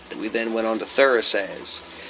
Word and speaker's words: Thurisaz: then went on to Thurisaz. Phonetically speaking, it's got a TH sound like in the, or Thor, or throughout.